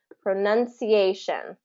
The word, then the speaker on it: pronunciation: a hard time well the trick there is to break it apart Pro pronunciation prun okay pronunciation pronunciation and say it's like this pronoun you're having a hard time getting from Pro To None So You Go Pro none PR none Pro oh none and train your mouth